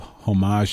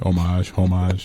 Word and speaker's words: homage: in that kind of homage stage. Did I say that correctly? Homage. I'm ghetto-fying the word here. Getting all public radio here. Exactly. Go on. Homage. Let's say it correctly.